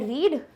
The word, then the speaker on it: read: रीड दिख रहा है, बट पढ़ते ऐसे नहीं है। इसको पढ़ते ऐसे हैं, रीड, रेड, रेड, रेड colour, वैसे पढ़ते हैं READ को। तो स्पेलिंग चेंज नहीं होती, लिखने में कोई दिक्कत नहीं होगी, बट पढ़ने में गलती मत करना। प्रेजेंट में बोलोगे तो रीड बोलना, पास्ट में बोलोगे तो रेड बोलना।